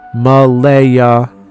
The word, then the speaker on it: Malia: The names she's chosen for her future daughter are Malia Seraphine, yes, spelled exactly that way, and Claire insists it's pronounced Malaya Seraphine, but she's adamant about keeping the creative spelling.